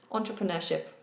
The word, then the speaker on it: entrepreneurship: Entrepreneurship is how I would pronounce it.